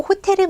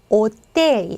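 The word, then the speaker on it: hotel: 렇게 되는 거예요 그래서 스페인어로 호텔은 뭐예요 오텔 오텔 호텔 아니고 데입니다 자 사람 이름 헥토르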